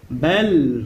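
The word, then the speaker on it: بل: লাহুম, হুয়া খায়রাল লাহুম বাল হুয়া, বাল বা লাম জবর বাল, বা লামকে ধরেছে, বা লাম জবর বাল, কোনো টান হবে না, তাড়াতাড়ি উচ্চারণ হবে।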